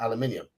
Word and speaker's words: aluminium: with an F yes the official spelling of Alum aluminium and pronunciation is now aluminium there a been so there's been a bit of compromise done oh so what it is actually aluminium now yes that is it's